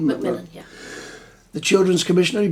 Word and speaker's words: McMillan: That's the right pronunciation, McMillan? McMillan, yeah.